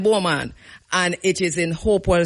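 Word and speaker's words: Beaumont: right where somebody said I'm going spell it to you because you don't know where me talking it is B E A U M O N T B right but we call it Bulman and it is in Hopewell St.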